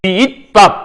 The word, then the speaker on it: 귓밥: 그리고 읽을 때는 귀잇밥 이렇게 읽으라는 얘기죠. 그래서 귓밥이 되는 거예요.